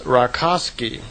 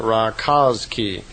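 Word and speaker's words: Rakoczi: his real name was rosi r a k o c zi I suppose you would pronounced that razi and his name wasn't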